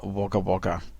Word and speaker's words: Wagga Wagga: Yeah, That's pronounced Wagga Wagga. WAGGA times 2, Wagga Wagga.